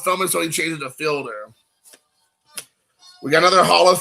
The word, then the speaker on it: Fielder: guys names is it fielder or is it fielder i think it's felder i think it's cecil felder or maybe it's like